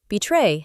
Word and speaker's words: betray: Betray has two parts. Be, like the word betray, like the tray you carry food on. So the word is betray. The stress is on the second syllable.